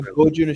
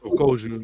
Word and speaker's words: Kojun Works: Even the Gojun should be Kojun Works. Okay. Is it Kojun? Yeah, Kojun. You're right. Yeah, with a K.